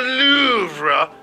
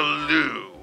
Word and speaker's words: Louvre: lisa is smiling at it is pronounced the louvre not the loo and we don't charge